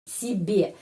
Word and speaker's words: себе: mendapat penanan kalau tidak mendapat penanan huruf BAC pengucapannya i si b dan kenapa di sini ya pengucapannya di sini